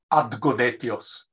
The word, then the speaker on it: Adgonetios: Try to pronounce it very carefully now. Adgonetios. So it has ad at the beginning.